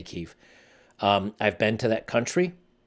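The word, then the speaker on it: Kyiv: kiev um i know the europeans and american state is kiev but the the the ukrainians in kiev pronounced it kiev that's why i say keef i've been to that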